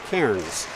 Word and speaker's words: Cairns: It is Cairns, not Cairns.